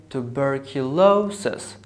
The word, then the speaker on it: tuberculosis: So I say tuberculosis. So bur, this syllable has secondary stress. And lo has the primary stress.